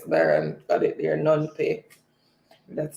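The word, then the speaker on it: Phnom Penh: i pronounce it from i think the p might be or the h might be silent nom say okay this is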